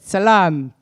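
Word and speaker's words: Selam: the world so how use how do you pronounce this I need some help Salam good Salam okay I'm going to start with the bad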